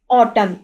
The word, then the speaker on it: autumn: Okay, अब यहाँ पे ये देखें ऑटम, AUTUMN, एन यहाँ पे राइट तो होगा, लेकिन इसकी प्रोनाउंसिएशन नहीं होती, ऑटम रीड होगा, ऑटम।